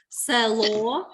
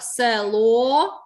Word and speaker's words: село: слова є ненаголошена е можна деякі можливо учні або люди при вимові інколи можна сказати село говорять так відчувають тобто замість е ставлять и як же перевірити е